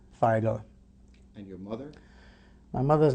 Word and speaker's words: Feigl: Birth at Birth my name was FAL can you spell that for us uh that's k l a u s and last name figel f as in Frank EI i g l